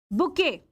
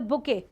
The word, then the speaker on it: bouquet: Next we have is the bouet. Here your t is silent. We don't pronounce or say the sound of t. So we have the booket. Now what's a bouet?